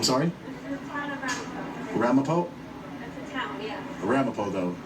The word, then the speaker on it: Ramapo: Ramapo.